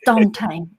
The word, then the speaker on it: Duante: And then Sai was like, I've told you 17 times it's Dante.